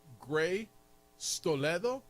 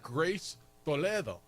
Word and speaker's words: Grace Toledo: He's like, "Is her name Gray Stoledo, or is it?" No, I'm like, "No, dude, it's Grace Toledo, right?"